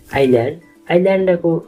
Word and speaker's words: island: आइल्यान्डको spelling ISLAND भयो भने यसको उच्चारण आइल्यान्ड हुन्छ।